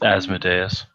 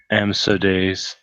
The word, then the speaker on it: Asmodeus: It's Asmodeus. Yes. Jason will purposefully mispronounce it even while writing it. Amsodeus.